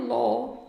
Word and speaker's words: law: Aqui o som não tem nada a ver com a pronúncia, né? É law, tipo L-O, tá?